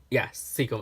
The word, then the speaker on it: Sequim: lavender haul from the Sequim Lavender weekend, or Sequim Lavender Festival. Now, this was 24 Sequim. Yes, Sequim. I just wanted to make sure I don't mispronounce it, because there's a lot of names